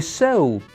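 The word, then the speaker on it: Seoul: capital of South Korea the sole of your shoe and the sole residing in your body all have the same pronunciation Sol Sol Sol Sol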